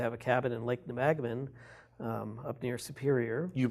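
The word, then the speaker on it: Nebagamon: in-laws used to have a cabin in Lake Nemagman up near Superior. You pronounced that properly, Thank which you.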